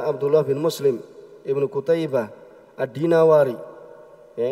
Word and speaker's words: Ad-Dinawari: Ibnu Qutaibah di sini adalah Abdullah bin Muslim Ibnu Qutaibah Ad-Dinawari. Ya, ini disebutkan ya cara membacanya adalah ya dari negeri Dinawar.